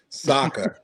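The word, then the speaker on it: Sokka: with that I think uh sooka not SOA Jesus wow Saka Saka not the inight Shyamalan pronunciation of it but Saka I think the the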